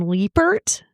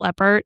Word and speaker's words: Leppert: Um, Robert Stack called her Tammy Lyn Lebert. Ah. And I was like, that can't be right because it's definitely spelled leopard and then everything else I saw pronounced it leopard.